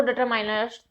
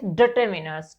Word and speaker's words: determiners: तो सबसे पहले तो आप यही याद रखिएगा कि इसका जो प्रोनाउंसिएशन होता है वो डिटरमाइनर्स नहीं होता, दैट इज डिटर्मिनर्स।